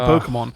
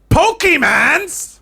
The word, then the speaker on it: Pokémon: News start talking about collecting Pokemon right next to 10 Dow Street it that's